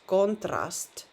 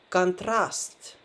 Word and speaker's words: контраст: But the first vowel o changes into a, so it's not pronounced as contrast, but contrast, contrast.